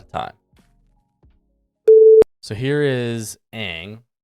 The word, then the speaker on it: Aang: She's like, "No, it's Ong." And we got in like this argument about what's the right pronunciation. I'm like, "It's freaking Aang, okay? It's Aang. Like it's there's no confusion. It's always been Aang.